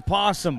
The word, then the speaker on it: Possum: As you see, Heath Leroy, the guy on the backside, they call him Possum, only because it rhymes with awesome.